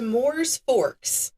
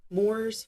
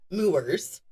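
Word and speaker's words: Mooers Forks: He then moved to Moors Forks in New York. I had to look that up. Moors Forks, even though it's spelled Mowers.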